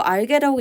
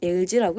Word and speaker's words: algae: 네, 이거 알게라고 읽지 않고 algae라고 읽습니다.